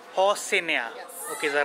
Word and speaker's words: Rocinha: Okay, how do you pronounce Hoshina? Rocinha. Rocinha. Hoshina.